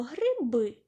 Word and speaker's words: гриби: наприклад слова гриби верба перше слово гриби наголошений другий склад перший склад не наголошений тобто не наголошений звук и коли ми читаємо це слово дітки Ми чуємо ніби літеру е гриби Так і хочеться сказати е за правилом ненаголошений звук и у вимові наближається до е спробуйте прочитати самі гриби наступне слово верба ми